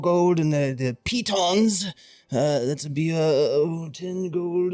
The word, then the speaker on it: pitons: I will take 20 pythons and I believe those are pronounced pitons.